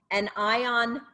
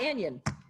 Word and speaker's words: anion: introducing the world's first an ion dna drop that's the first thing we learned how to say this week and it's not anion it's n an ion it's two words oh i know who